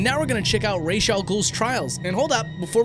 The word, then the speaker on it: Ra's al Ghul: And now we're gonna check out Ra's al Ghul's trials.